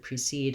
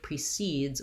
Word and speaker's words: precede: The pronunciation of precede and proceed are basically almost one and the same. I often talk about how the I, the lax I, and the lax schwa, the unstressed syllables, that there's not much difference between those two.